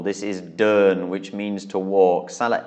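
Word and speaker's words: เดิน: And it's a mid-class consonant and it's a live syllable with a sonorant final. So this is mid-tone pronunciation, Durn.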